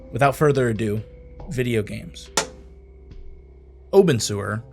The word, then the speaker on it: Obenseuer: further Ado video games Oben sewer lovingly pronounced open sewer is a life simulator